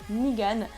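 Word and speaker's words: Negan: anglais ben en fait il s'appelle nigan mais mais ça se prononce négan en français bien évidemment donc elle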